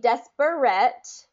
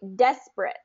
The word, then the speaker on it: desperate: important part okay de it's not going to be desperate it's going to be desperate desperate and if you notice